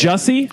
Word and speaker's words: Jussie: Jussie? Jussie, right? Jussie. Like that's not a fucking acting name. Yeah, That's it rhymes with pussy.